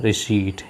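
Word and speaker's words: receipt: window with थे order रिसीप्ट इस शब्द का उच्चारण समझ लें इसमें आप इस आयरलैंड है और पढ़ा जाता है रिस्ट यानि कि रंजीत गांधी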